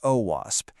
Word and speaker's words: OWASP: The OWASP Foundation, that's pronounced OWASP, and they are the global leaders in web